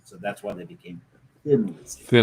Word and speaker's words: Thin Lizzy: Um, so when you say Tin Lizzy in Scottish, it's T H I N. That's how you would pronounce it. So that's why they became thin Lizzy.